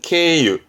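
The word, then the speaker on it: 経由: 발음은 케에 경유. 지나가는, 거쳐가는, 경유하는 케유.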